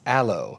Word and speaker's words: allo: And so it's not aloe the plant, it's aloe.